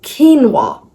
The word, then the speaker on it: quinoa: Or no, it's quinoa. Quinoa. Just pronounce it after me. Quinoa. Don't go to the spelling. It's not qua or whatever. It's quinoa.